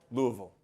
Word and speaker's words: Louisville: How do you pronounce it, by the way? Louisville or Louisville?